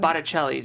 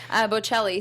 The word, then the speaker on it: Bocelli: on the pianos, the Botticellis. Is that right? Am I pronouncing that right? Bocelli. The Bocellis, yes. Rotor13 from the chat said